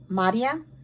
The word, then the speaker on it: Maria: It's actually pronounced Madia, but her name, like, it's spelled Maria, so people mispronounce it.